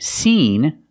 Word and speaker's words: seen: And seen, we use the long E sound, like green beans.